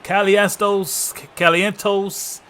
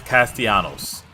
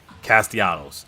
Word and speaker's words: Castellanos: run of the Season I'm sorry I can't I just butchered the dude last name okay wait a minute all right I just got word from our production crew it's castianos my bad Castellanos so we're gonna jump